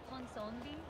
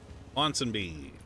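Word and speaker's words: Ponsonby: Pinsombi, how do you pronounce it? Ponsombi? Ponsonbi. Ponsonbi?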